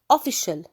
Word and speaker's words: official: We have official. Official. Official means رسمي. قرار رسمي، خبر رسمي. So we have official رسمي. sh. The CI is pronounced sh.